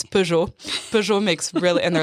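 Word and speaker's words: Peugeot: It's Pujour.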